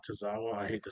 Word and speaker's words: Tozawa: Tozawa.